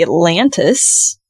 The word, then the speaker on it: Atlantus: is in Cape May is called the Atlantis um but weirdly and interestingly it's a u and not an I so uh a t l a n t is how the ship's name is spelled I I might be